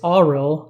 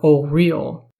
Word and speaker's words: Auril: the reason being that the pronunciation given across all older Source books is AAL never o real either way I'm not